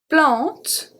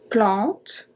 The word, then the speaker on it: plante: Plante. Plante. A-N make the sound en.